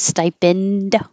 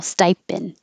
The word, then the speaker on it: stipend: think of it as stipend but hold the D or just no D at all stipend and this is per